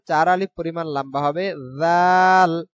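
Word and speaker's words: ذ: আলিফ পরিমাণ লম্বা হবে জাল উচ্চারণ হবে নরম উচ্চারণ জাল জাল জাল জাল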